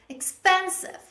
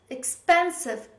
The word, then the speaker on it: expensive: stress in the word the correct stress is on the second syllable the correct pronunciation of this word is expensive expensive don't say expensive say